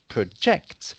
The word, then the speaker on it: project: syllable acts you see whereas when it's the noun it's a project so there when is the noun the emphasis is on the first syllable rather than on the second syllable can you see that